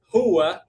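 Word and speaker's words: هو: Kemudian uh, huwa, huwa itu tetap huwa sama kayak bahasa Arab Fusha, tapi pengucapannya yang beda. Kita bilangnya huwa, huwa, agak dihentapkan. Huwa.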